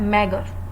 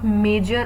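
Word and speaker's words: meagre: Then आपका एक word आया, ठीक है, मैगर। इट्स नॉट मेजर और मैगर, मेगरी जो भी है, इस वर्ड की जो प्रोनाउंसिएशन है वो आपकी है मेगर, ओके, मेगर।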